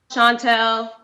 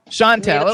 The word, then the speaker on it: Chantel: Is that how we pronounce it? Yeah, that's cool. Is that correct, though, or you can correct me? Chantel. Chantel.